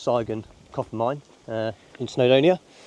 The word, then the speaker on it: Sygun: I've come down to I think it's pronounced saon Copp mine uh in